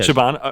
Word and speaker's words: Siobhan: Is Siobhan. it how you said it? Yeah, Siobhan.